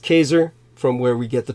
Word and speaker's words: Caesar: Jews in 47 BC Julius Caesar correctly pronounced Kaiser from where we get